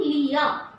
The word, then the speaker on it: Lear: Children, please keep in mind that whenever there is R after a vowel, we are not going to pronounce R.